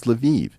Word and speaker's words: Lviv: Now, by the way, if I say Lvov, everyone's going to correct me and say, no, Eric, it's Lviv. It's like, no, these cities all have multiple pronunciations.